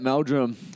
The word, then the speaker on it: Meldrum: Hunters welcome back I'm sitting here with B Meldrum welcome there you go mate good mate I was hoping that I pronounced that right is that how you say